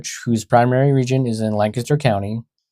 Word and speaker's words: Lancaster: guys live in California now, but he pronounced it Lancaster.